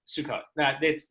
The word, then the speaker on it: Sukkot: Suck it, Sukkot, Russell. That's not how you say it.